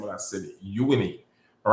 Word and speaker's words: Uyuni: Uyuni. That's how you pronounce the name of that city. Uyuni.